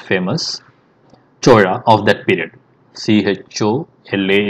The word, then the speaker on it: Chola: C-H-O-L-A is what we write in English, but we pronounce as C-H-O-Z-H-A, Chola.